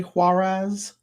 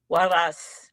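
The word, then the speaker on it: Huaraz: Am I pronouncing this correctly? Huarez. Huas. Huas.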